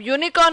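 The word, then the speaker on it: unicorn: अब यूनिकॉर्न में यू का प्रोनाउंसिएशन नहीं हो रहा है, वाई का प्रोनाउंसिएशन हो रहा है, वाई इज अ कॉन्सोनेंट, तो यहाँ पे ए आगे यूज किया है।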